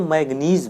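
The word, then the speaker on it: manganese: तो इसको मैग्नीज बोलते हैं और इसको मैग्नीशियम बोलते हैं। तो इसकी स्पेलिंग वगैरह प्रीवियस लेक्चर में हमने लिखा है तो उसको आप देख सकते हैं, मैग्नीज।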